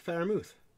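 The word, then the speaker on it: Freiermuth: too how do you say it it's pat faramouth gary brightwell never heard of him a mom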